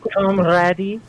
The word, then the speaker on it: comrade: No, there actually is the E at the end. Comrade. Throws me off every time. Oh god. Really? I can't spell that There is. There is. There is. Yeah. It's just that it throws you off. It's a silent e, but it's there for comrade.